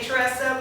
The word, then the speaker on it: Tressa: And my name is spelled T-R-E-S-S-A. Some people say Tressa. My mom said it's Tressa. T-R-E-S-S-A. The E is long, Tressa.